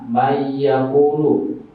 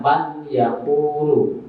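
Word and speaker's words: مَن يَقُولُ: Maka cara bacanya misalnya mayyaqulu. Jadi nggak boleh bacanya man yaqulu, tapi harus masuk sambil berdengung. Jadi bacanya mayyaqulu, harus masuk sambil dengung atau ditahan.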